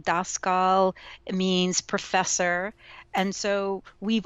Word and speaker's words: Daskal: So Daskal. No. You got it right. American, it's Daskal, but in Europe, it's Daskal.